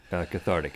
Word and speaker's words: cathartic: Cathartic is how it's said.